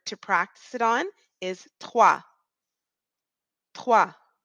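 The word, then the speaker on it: trois: practice it on is TWA TW it's almost like we're saying the word t wa so tww TW TW wa what we're really saying is TWA and then we roll the R so TAA practice that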